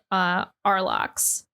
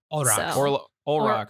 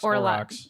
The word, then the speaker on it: Olrox: Yeah, so I axed her, and husbando is Arlox. Olrox. Olrox.